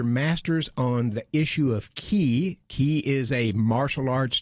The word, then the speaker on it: Ki: Ki is a Japanese term. The Chinese pronunciation is chi.